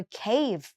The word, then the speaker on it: cave: เรียก ว่า เคฟ cve หนู อย่า ลืม มี เสียง เฟอะ ทั้ง ท้าย ด้วย นะ ไม่ ใช่ เคฟ อย่าง งี้ นะ ไม่ ใช่ เคป แบบ ไป กิน เคป นะ ค ต้อง เร เคฟ เคฟ นะ ไม่ งั้น ได้ ไป